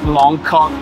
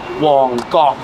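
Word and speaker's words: 旺角: our Tour on Monday um it's actually not pronounced Mok in Cantonese it's pronounced Wong this is the area where Grandmaster yman lived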